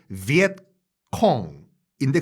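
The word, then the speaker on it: Việt Cộng: 비엔남 또는 비엔나미스 커뮤니스트의 준말 비엣콘 또는 월남 공산당에서 월공의 그들 발음인 비엣콩인데 그걸 이제 우리와 일본만 베트콩이라고 하죠.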